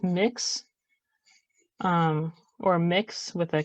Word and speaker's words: Mx: used gender neutral honorific is MX which is pronounced mix um or mix with a K instead of